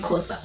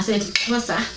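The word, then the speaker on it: Xhosa: Kaa they Saida yeah that's how they pronounce it's not COA yeah SOA and then you know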